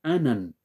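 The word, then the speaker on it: ענן: que la palabra nube viene del hebreo anan anan con acento en la primera a anan y Qué significa nube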